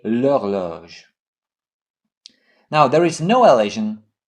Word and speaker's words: horloge: Instead of saying la horloge, we say l'horloge.